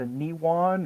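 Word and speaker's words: Nehwon: yeah how do you how do you how do we pronounce that judge's guide to niwon or maybe Mike has always said it and name one is how they say it in all of the audiobooks so I'm inclined to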